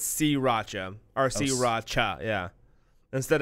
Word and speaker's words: sriracha: wrong last but not least sriracha is pronounced wrong by a lot of people now now they say Si Racha yeah sree sriracha ro Sri Racha yes Sri Racha City I've never heard anyone say Sri Racha nobody nobody in America knows the trouble of saying s followed by an R nobody does that nobody three like now it's si Racha turns out it's C Racha are si Racha yeah